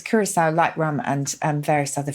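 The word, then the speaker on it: Curaçao: Now, how do you pronounce this? Is it Curacao? Oh, Curacao. Yes, I think it is. Yes, Curacao.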